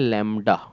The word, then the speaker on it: lambda: इसको हम पढ़ते हैं लैम्डा, स्पेलिंग है LAMBDA।